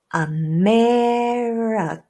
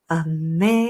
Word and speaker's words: America: America. America. The only syllable that is not reduced to schwa in the word America is the second stressed syllable.